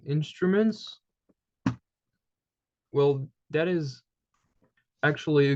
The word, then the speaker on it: instrument: Those two letters form kind of a group which is pronounced as one sound, okay? So here it's un, okay? So the pronunciation is very different. So the pronunciation, I'm going to kind of put it into brackets, okay? So basically it's instrument, kind of. So you don't pronounce the N here.